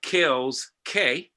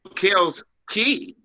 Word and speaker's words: Kels Key: Oh, Kels Key. Yes. It is spelled K-E-Y, so I should have said Key, but I think I just like saying K.